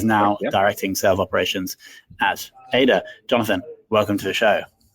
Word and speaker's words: Ada: Did I pronounce that company name right, Jonathan? Perfectly, yeah. Ada.